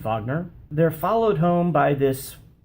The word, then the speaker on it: Wagner: a walk with his sidekick wagner spelled wagner pronounced fagner they're followed home by this strange poodle this